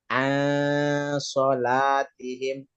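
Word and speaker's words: عن صلاتهم: Nun mati berjumpa dengan shod. Itu apa Ibu tajwidnya Ibu? Ikhfa, Pak. Ikhfa. Menyembunyikan. Cara bacanya menyembunyikan. Cara bacanya bisa Ibu praktekkan, baca ayatnya. Allazina hum an sholatihim sahun. Oke, benar ya, bukan an ya. Kalau an Ang. sholat, kalau an itu berarti izhar yang dipanjangkan, Iya, Pak.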